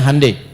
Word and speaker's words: Hyundai: Ya, Hyundai saya tahu bahasanya dibacanya Hande ya.